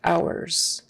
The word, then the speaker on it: hours: kind of our and h is silent don't forget no h don't say visiting hours visiting hours and that final s